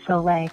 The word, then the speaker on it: Soleil: I think her real name is Soleil. Is that how you say it? Yes, it's Soleil.